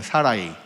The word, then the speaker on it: 사라이: 한글 번역에서는 이제 사레로 되어 있지만 그 언어에 더 가까운 발음으로 하자면 사라이입니다. 사라이.